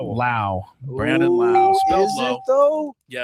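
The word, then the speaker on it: Lowe: Lao. Brandon Laauo. Spel. Is it low? Yes, it's spelled low, but it's pronounced Lao.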